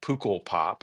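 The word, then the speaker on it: Pukkelpop: I played at the very difficult to pronounce festival, Pukul Pop, I think is how it's pronounced.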